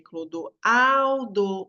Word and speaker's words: Clodoaldo: Então, qual eu falo mais forte, né? Clodoaldo, o ao é mais forte, paroxítono.